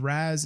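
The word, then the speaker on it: Ras: Kai and I guess it's Lord Ray's Lord Razz it's spelled r-a-s you have his bike that is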